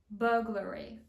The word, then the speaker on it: burglary: Його ми читаємо як burglary.